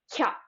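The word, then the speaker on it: きゃ: But if the ya is tiny, it's like it drops the I from the ki, and now it's one sound. Kya, kya. So for example, kya, kyu, kyo.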